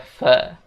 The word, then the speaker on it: for: Nah, untuk pengucapannya, for itu dibaca fe.